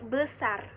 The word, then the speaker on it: besar: besar itu menggunakan ee e-nya adalah e pepet. Jadi ee dia tuh pelafalannya tuh beda, Teman-teman, sama ee e bacaan e pada umumnya. Ini jadi baca jadi besar.